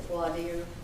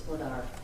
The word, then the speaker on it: voir dire: Some people pronounce it voir dire. You may hear both phrases. It sort of depends on where you went to school, and I went to Georgia, so it's voir dire where you are.